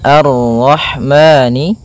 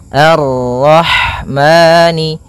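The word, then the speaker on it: الرحمن: tafkhim arro Ar arrahmani Kemudian pada lafal Rah di sini ada huruf ha ha yang berharakat Sukun dan sifat ha itu yang paling mencolok adalah sifat hamasnya yaitu mengalir n nafas ketika kita membacanya arah arah kemudian dan jangan sampai memantul Hnya kemudian maani ada bacaan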